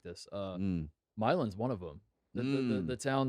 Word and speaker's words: Milan: it's called Milan. It's the same thing. I think Like it's my land, but without the D.